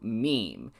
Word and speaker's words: meme: I hope my classist friends will forgive me if I abbreviate my meme to meme. If it is any consolidation, it could alternatively be thought of as being related to memory or to the French word meme. It should be pronounced to rhyme with cream.